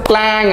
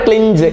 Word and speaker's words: cling: ക്ലിങ് അതിന്റെ past tense ക്ലാങ് എന്നാണ് നോട്ട് ക്ലിഞ്ച് ക്ലിഞ്ച് അല്ല അവിടെ ജി ഇ അല്ല ക്ലിങ് അടുത്തത് എഫ് എൽ ഐ